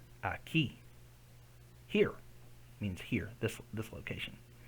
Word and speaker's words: aquí: Aquí. Aquí. Here means here. This location. So another one. That doesn't say que. It's the silent. The U is silent.